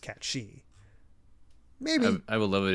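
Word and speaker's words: Cait Sith: Cloud will say you're Kate Sith, and it'll be a running joke whenever Kate Sith corrects people by saying it's pronounced Cat She."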